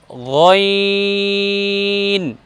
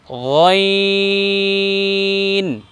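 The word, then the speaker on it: غ: দ্বিতীয়টা উচ্চারণ করব গইন। আবার বলুন গইন।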